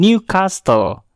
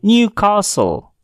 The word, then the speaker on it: Newcastle: Kata ini tidak diucapkan dengan Newcastle, tetapi kata ini diucapkan dengan Newcastle. Newcastle. Huruf T pada kata ini sama sekali tidak diucapkan.